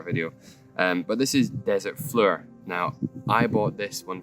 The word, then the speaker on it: Fleur: This is from Bohemian Reeves, and it's called Desert Fleur, or Flower, but it's pronounced Fleur, I believe.